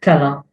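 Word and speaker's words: tela': Usually it is with verbs, such as the verb tela, which means to go up. Tela. There is an ein, which is hidden. You don't pronounce it. It is as if there is no apostrophe.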